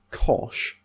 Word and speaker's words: cosh: uh you might pronounced you might pronounce thanan as tan now I prefer shine Kosh thanan but I understand if you want to use cinch Kosh tan I get it so it's really there